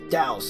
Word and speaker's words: Daos: Yeah, it's actually pronounced Daos. I was watching a couple episodes of the anime yesterday, actually, and in the dub, it's pronounced Daos. I've been pronouncing it wrong for a little while now.